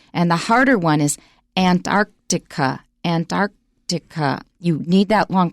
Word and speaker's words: Antarctica: it we notice okay now antarctica antarctica you're gonna have to practice go to merriam-webster online and listen to the sound file next sentence however you're